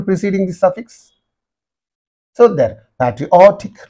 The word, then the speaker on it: patriotic: have to give the stress apologetic like that patriotic patriotic so first of all you have to learn